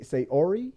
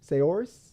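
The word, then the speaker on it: Saoirse: up it's last name Ronin U so say seori soris s a o i r s e that's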